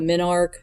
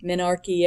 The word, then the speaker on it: menarche: first period which is called a min arc menarche I've heard it pronounced both ways and so it's just